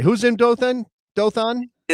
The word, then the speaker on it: Dothan: And he would like the dot put in Dothan, Alabama.